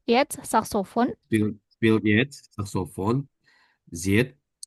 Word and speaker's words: seit: Spielt jetzt Saxophon seit, S- seit vier Ah, ah, ah. Wochen. No, I bacanya. Ini kan ada tulisannya Said ya, tapi bacanya jadi I.